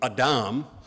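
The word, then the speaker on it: אדם: Uh from from what little Hebrew I remember in seminary, uh Adam is pronounced in Hebrew Adam.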